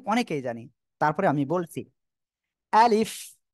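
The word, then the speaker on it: ألف: জানি তারপরে আমি বলছি আলিফ দেখেন আমি কিভাবে উচ্চারণ করি আমার মুখের দিকে তাকান আপনারা আলিফ আলিফ আলিফ দেখেন আ সিম্পল আ এইবার কি হচ্ছে লি এরপরে ফ উচ্চারণ হচ্ছে সে ফ টা কোন জায়গা থেকে নিচের ঠোঁটের পেট সামনের উপরের দুই দাঁতের আগার সঙ্গে লাগিয়ে হালকা বাতাস বের হবে আলিফ আলিফ সবাই হাত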